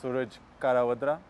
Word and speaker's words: Karavadra: Yeah, to pronounce it, obviously it's Suraj Karavadra, is the way that you would say it with the Indian accent.